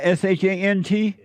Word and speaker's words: Sean: it's actually Sean oh it's not sh NT it's sh NT it's it's um it's pronounced shant it's what just a